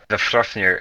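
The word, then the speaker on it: Vafþrúðnir: Vafthrofnir is the pronunciation, but it's just easier to say Big Daddy V.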